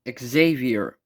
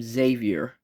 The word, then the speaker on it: Xavier: First up, we have the Professor Charles Xavier, but it's everyone in North America pronounce the last name Xavier, but for me, I call him Xavier.